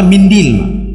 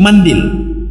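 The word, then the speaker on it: منديل: hadis tadi wamsah il sebagian orang Arab bacanya mindil mindil mandil setelah makan Jangan cuci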